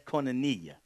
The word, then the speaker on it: koinonia: That's koinonia or koinonia, depending on how you pronounce it.